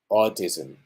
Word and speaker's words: autism: know extended lips or autism autism yeah first one is stressed autism the next one